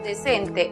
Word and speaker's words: decent: La siguiente sílaba, cent, es cerrada porque termina en consonante. Entonces, aplicamos el sonido cerrado de la vocal e, es decir, e igual que en español. La pronunciación para la palabra decente en inglés es decent.